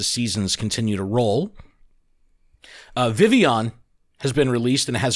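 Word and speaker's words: Vivillon: pronounce Vivion vavilion phenomenal they even phonetically wrote it out in the blog Vivion it's not the villian oh my god that's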